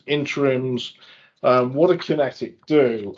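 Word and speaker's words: QinetiQ: Kinetic is ticker is QQ, 2 billion market cap, and I'll spell it out for our listeners just so they can check. Is QUINETIQ. Kinetic.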